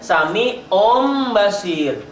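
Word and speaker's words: سميع بصير: Kalau tanwin atau nun mati berhadapan dengan ba, maka sami'un, ujungnya n itu tidak n lagi tetapi berubah menjadi m. Jadi bacanya sami'um basir.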